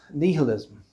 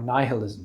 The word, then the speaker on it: nihilism: in today's society is nihilism or nihilism depends where you want to pronounce it the problem with the